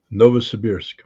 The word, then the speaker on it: Novosibirsk: I know that is, but I'm not even going to try to pronounce it. How do you say that, Scott? Novosibirsk. Novosibirsk.